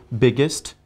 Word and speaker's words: biggest: EST should be pronounced as ist. For example, biggest, tallest, hardest, fastest, longest. Got the idea?